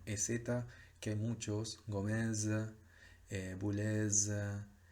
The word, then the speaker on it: Boulez: La Z final en los apellidos sí se pronuncia, Boulez. Se pronuncia como una Z, que nosotros ya vimos en el trabajo práctico pasado, que es ese sonido de consonante sonora.